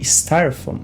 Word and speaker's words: styrofoam: E aqui a gente tem alguns ditongos que acabam deixando essa palavra um pouco mais chatinha de pronunciar. A gente tem aqui, por exemplo, o ditongo I, sty.